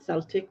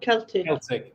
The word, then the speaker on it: Celtic: Not Celtic, that's a football club. Celtic.